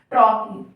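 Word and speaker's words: trochee: इसका प्रोनंसिएशन है टॉकी, है ना, ट्रॉकी। तो स्ट्रेस लगाना पड़ रहा है कि ट्रॉकी, ट्रॉकी।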